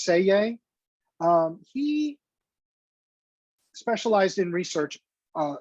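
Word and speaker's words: Selye: right so hans and you do not pronounce the l in this it's it's it's actually pronounced say yay he specialized in research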